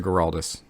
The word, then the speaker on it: Geraldus: So Geraldus, I'm sorry, did you just say Geraldus or Geraldus? J. So that's soft G.